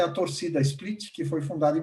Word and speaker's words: torcida: Então, a torcida oficial do Hajduk Split se chama torcida. A pronúncia deles é torcida, com C.